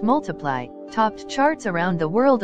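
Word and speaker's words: ×: Sheeran's second studio album, pronounced Multiply, topped charts around the world upon its release in June 2014.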